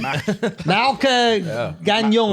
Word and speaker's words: Mark Gagnon: How do you pronounce his name? Mark Gagnon.